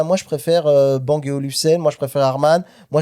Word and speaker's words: Olufsen: Chacun un petit peu sa sa olfen, je le prononce mal depuis tout à l'heure, je sais pas Olfen, j'ai dit Olfen." Donc Olufsen, pardon.